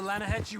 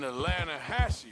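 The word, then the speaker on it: Lannahechee: some beautiful steelhead trout you mean - Lana Hasse River no no no the Lana hatch it runs right near here yeah but it's pronounced Lana Hass why is everything in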